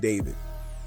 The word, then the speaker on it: d4vd: by his stage name D4 VD, pronounced David.